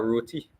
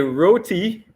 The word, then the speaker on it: roti: But as a Trinidadian, I'd have to stand to my roots and I would have to say a roti and doubles. Who? A roti and doubles.